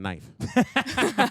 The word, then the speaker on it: knife: was the one that put the silent k in knife that's what I want